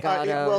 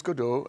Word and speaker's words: Godot: Godot. Until 3 weeks ago, I would have had a different answer. The answer is, in French it's Godot, and in English it's Godot.